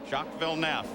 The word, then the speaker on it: Villeneuve: Now, as for Manel, let's go to Shockville Nef. By the way, the pronunciation has changed at the request of Jack himself and of other members of his teams.